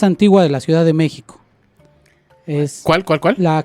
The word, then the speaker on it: México: durante mucho tiempo a México lo escribieron con j cuando la pronunciación es como sh como en shola mico de México Bueno si después le